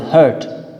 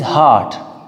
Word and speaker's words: heart: So dear student, do remember, sometimes you mispronounce this word hurt or hurt. This is heart, heart.